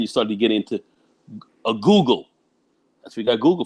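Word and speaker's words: googol: I thought it was a gaggle. No, it's actually a Google.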